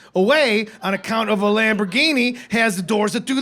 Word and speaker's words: Lamborghini: That says Lamgina, man. That's how it's spelled. Oh. Y'all need to get a Lamborghini off a building.